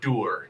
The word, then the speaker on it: Dur: His name His name is pronounced Der.